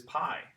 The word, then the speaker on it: pi: This is pi. Okay, this is the Greek P sound.